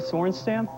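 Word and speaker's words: Sorenstam: Anukica Sornstamp. That is correct. The pronunciation.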